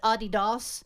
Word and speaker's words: Adidas: actually pronounced Adidas. Adi Dassler was the founder of Adidas, and he and his brother had falling out.